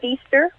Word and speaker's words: Fiester: Am I pronouncing your last name correctly? Actually, it is Fiester.